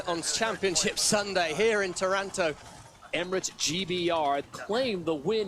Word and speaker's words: Taranto: But here is the video recap from, I went to see how to pronounce it, Taranto, not Toronto, Taranto.